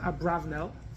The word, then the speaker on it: Abarbanel: So Abarbanel was a major commentary in the Torah. Some people pronounce it Abravnel.